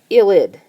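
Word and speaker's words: ylide: here and the name of this is an illid so y l i d e and it's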